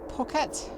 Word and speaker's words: Phuket: Registration GTUIB, and it's going to Phuket. Pronounced it right this time.